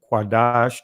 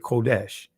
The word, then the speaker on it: qadash: this is right here qadash that's the uh ancient Hebrew pronunciation of uh holy in the Israeli they said kodesh but right here this